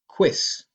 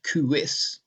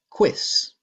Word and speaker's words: quis: Well, yes, but it's a one-syllable word, quis. That's because the U in this word is not acting as a vowel. Instead, it's acting like a consonant W, like English W. The word isn't pronounced quis, it's pronounced quis.